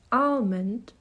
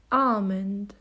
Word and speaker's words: almond: is commonly mispronounced as almond it should be almond the L there is silent if you want to